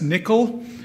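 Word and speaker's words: N1QL: Couchbase has something that's pronounced nickel.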